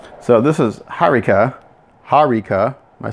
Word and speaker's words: Hariqa: and so the way he spelled it it should sound like Haruka so hopefully I'm saying